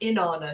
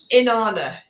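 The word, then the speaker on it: Inanna: So, if we look at the ancient Mesopotamian, ancient Samrian goddess, Inana, she was a very powerful goddess. Say her name again. Anana. Inana. Inana.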